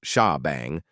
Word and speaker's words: shebang: In addition to that, a special line known as the shebang line pronounced sha bang must be included at the top of every PHP script file.